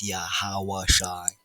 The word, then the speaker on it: Yahawashi: on and so forth but his true name a proper name broken down correctly that means something phonetically and righteously sounding it out in the holy tongue Lan qadash the first form or dialect of the true ancient Hebrew isites of the two2 tribe chart is yahawashi yahawashi he is salvation